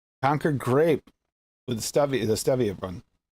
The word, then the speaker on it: Concord: It's like spelled like phone cord. It should be cord, but there's 2 of them near me, and they're both Concord is the way they pronounce them.